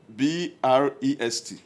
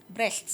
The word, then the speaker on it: Brest: See, pronounce the word. Brest. Brest. It's simple. Brest.